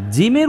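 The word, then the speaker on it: ج: জিমের উচ্চারণ শক্ত হবে। লেখেন লেখেন লেখেন। জিমের উচ্চারণটা কেমন হবে? তাইলে শক্ত হবে। শক্ত হবে। এরকম। এরকম জিম জিম আওয়াজটাকে ভিতরে ধরে রাখতে হবে আওয়াজ ভিতরে ধরে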